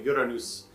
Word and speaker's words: Uranus: width welcome to uranus i like to pronounce it the swedish way uranus now this is one